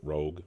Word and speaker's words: ROG: the Republic of Gamers Rog I think that's how they pronounce it Rogue Rog but the rag allyx